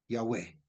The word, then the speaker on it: Yahweh: No, tenemos que ver la escritura y entender a ello y hacerla, porque hay uno solo, Yahweh, uno solo. Lo pronuncio así porque se da un poco más cercano, se dicen, y los